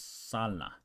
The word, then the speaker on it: sala: bla so soup I it's not salsa it's Salah Salah means living room bloa